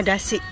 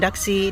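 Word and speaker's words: だし: ya nih ininya dapat bacanya dasi bukan daxi didada ya ini dasi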